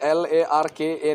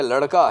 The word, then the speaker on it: लड़का: क्योंकि ये LARKA नहीं है, लड़का नहीं है, ये लड़का है, लड़, ये लड़का।